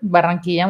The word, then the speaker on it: Barranquilla: I pronounced it correctly, right? Barranquilla, muy bien.